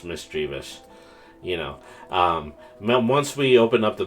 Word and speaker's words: Misdreavus: So, I'd also like to try to see if I could build a Mistravu's deck. Or it's Misdreavus. I think that's how it's pronounced. It's Misdreavus.